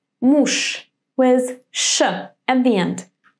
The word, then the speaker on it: муж: How do we pronounce this word? Correct. Муж with sh at the end.